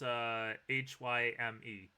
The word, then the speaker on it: Haim: Yeah, their name's Haim, even though it's not pronounced. It's not written him. It's Hyme. Haim.